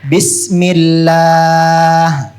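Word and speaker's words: بِسْمِ اللهِ: lamnya Allah lamnya Allah jika jika sebelum lamnya Allah sebelum lamnya Allah tanda bacanya I tanda bacanya I maka maka lamnya Allah lamnya Allah dibaca la dibaca la contohnya contohnya bismillah bismillah bukan bismillah bukan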